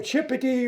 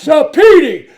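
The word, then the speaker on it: Cipiti: And I'm looking down, my heart's pounding, and the professor mispronounced her name. He called her Chippity or Chippetai or something like that, and she jumps up. It's Petey, C-I-P-I-T-I.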